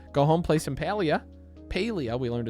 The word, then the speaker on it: Palia: Paleia, we learned it's pronounced.